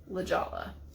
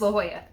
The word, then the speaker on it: La Jolla: it is important that it is not lijala it's la jolla it's a spanish pronunciation yes means the jewel all right do you